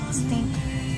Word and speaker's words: extinct: Try to make it have 3 syllables.